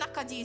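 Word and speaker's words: 낙지: of those markets they actually sell I think nakaji is the pronunciation and it's basically like uh like live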